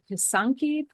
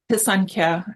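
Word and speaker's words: писанка: You put these pictures of these beautiful, are they called pisanki? Did I say that right? Pisanka, but I pronounce things wrong all the time.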